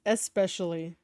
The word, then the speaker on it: especially: you're a wrestler especially it's especially you have to pronounce the E I'm just I'm just